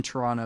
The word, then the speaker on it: Toronto: that's funny i said toronto if you're in toronto you say toronto you don't pronounce the t um if you're in